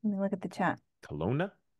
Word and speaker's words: Kelowna: Kelowna? Kelowna, BC.